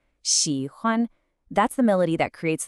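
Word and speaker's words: 喜欢: You get a dipping third tone, xi, followed by a high, flat first tone, huan. Xi, huan.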